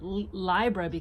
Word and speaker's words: Libra: Libra and that's why in my lineage we pronounce it library cause it puts the umph back into that sign journey that needs it